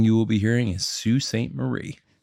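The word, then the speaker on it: Sault Ste. Marie: will be hearing is Sue St Marie Sue Saint Marie yes all right it looks like it's spelled salty Saint Marie it does but we're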